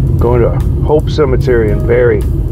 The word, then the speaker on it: Barre: all right guys going to Hope Cemetery in Berry Berry Vermont yeah b a r r e that's how you pronounce it Berry oh excuse me when the best salad yeah